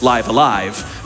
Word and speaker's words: Live A Live: from mint for $10 who says it's actually pronounced live alive just wanted to make sure that no one